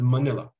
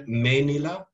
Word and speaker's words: Manila: that are intelligible like the word manila which is pronounced by some including myself and menila by others and so on and